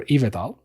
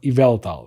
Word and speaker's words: Yveltal: Ivetal or Evetal. Well, Yveltal, right? Because there's an L there.